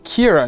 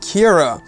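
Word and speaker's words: Qi'ra: So it's an interesting and new way of looking at a name like that, that sounds like Kira is spelt with a K, but it's not.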